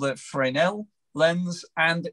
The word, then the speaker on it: Fresnel: But I got a how to say it phonetically guide here, which is Fresnel. And it does say Fresnel is how you say Fresnel.